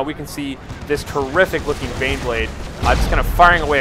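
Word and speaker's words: Baneblade: Sorry, I keep saying Bane Wolf, Bane Blade. I often mispronounce the two.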